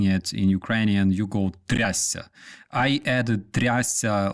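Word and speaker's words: трясця: This is pronounced трясся.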